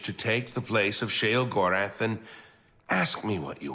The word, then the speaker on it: Sheogorath: Oh, I was pronouncing it Sheogorath right.